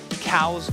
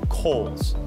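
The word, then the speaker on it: Cowles: of water number four cows mountain or correctly pronounced coals this is a three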